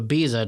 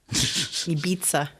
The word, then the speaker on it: Ibiza: Don't you say it like with a like Ibiza. Ibiza. Oh, Ibiza. you're trying to be properly Spanish. I was Yeah. trying to be like Ibiza, Barcelona. like an I'm English going geezer.